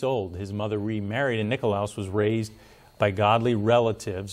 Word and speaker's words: Nikolaus: And they were founded by Count Nicholas von Zinzendorf, or as I guess the proper pronunciation would be Nikolaus, right, Russ? Would that be Nikolaus? Yes. Nikolaus von Zinzendorf.